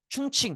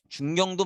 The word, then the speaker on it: 충칭: 겨 가 되는대로 옮겨다가 충칭 혹은 중경에 정착을 하게 돼요 요거 중경도 맞고 이게 중국어로 발음하면 충칭이에요 충칭 충도 같이 적어